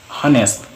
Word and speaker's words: honest: each silent h Silent Age what what what honest honest honest our school school the school mechanic